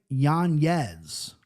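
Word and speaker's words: Yanez: no ranking anymore but how we pronouncing his surname these days in 2024 sure it's Adrian yanz I believe at this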